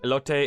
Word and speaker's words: elote: Elote is the correct pronunciation.